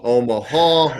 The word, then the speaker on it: Omaha: tennessee baseball and and learned omaha has three syllables when you say syllables yeah rhythmic three syllables omaha it's kind of like a kind of an indicator word uh kelsey to tell your teammates hey get ready we're going to the to plan b and this ball is about to be snapped now so it's a it's a rhythmic three syllable omaha oh my huh that's